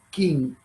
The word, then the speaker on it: Qin: Los Qin se escribe con Q de queso, Qin.